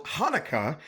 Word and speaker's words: Haneke: It's because the correct pronunciation of the director's name in German is actually Michael Haneke.